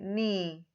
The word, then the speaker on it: knee: Here also we say knee, knife, knock, no. The K is silent and not pronounced.